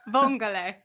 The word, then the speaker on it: vongole: Vongole. Vongole. Am I right? Did I say it right? Vongole. Yeah. Vongole.